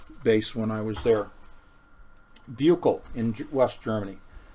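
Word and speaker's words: Büchel: when I was there, Buchel in West Germany. Buchel, I believe, is how it is pronounced. B-U-C-H-E-L, Buchel.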